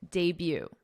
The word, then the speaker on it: debut: Look at this word and listen to my pronunciation. Debut. Doesn't really sound like English pronunciation. This is, I believe, a word we borrow from the French, judging by the pronunciation.